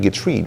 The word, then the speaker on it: Getreide: Patrick Getreide, right? I believe is the proper way. It's French.